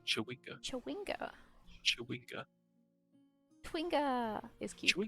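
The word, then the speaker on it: chwinga: Civic look what's that twinger footprints you know you're saying it wrong Mike what it's it's chewing up with a CH schwinger yeah it's chewika twinga is cute should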